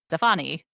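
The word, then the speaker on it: Stéphanie: Stephanie. Stefani. It has an accent. Stephanie. You can say Stephanie.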